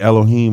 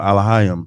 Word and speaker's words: Elohim: But God could be Elohim or Elohim, depending on what dialect of Hebrew that you speak.